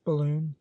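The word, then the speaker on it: Balonne: beginning of April when the Balon pronounced balloon was cited Mitchell described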